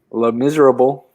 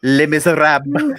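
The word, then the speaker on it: Les Misérables: Le Miserable. It is pronounced Les Miserables. Les Miserables.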